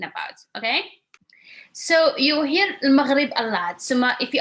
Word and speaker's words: Maghrib: It's like the R like the French R.